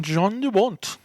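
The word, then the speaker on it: Jan de Bont: Oh, also, Speed was directed by Jan DeBont. John DeBont. He says John. Jan. He says don't John. know. I say Jan.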